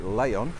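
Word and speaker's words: León: new seat leon and you say it lay on for some reason even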